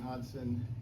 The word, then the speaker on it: Hodgson: I'm Hodgson. Yes, the G is silent, so don't try to pronounce the G.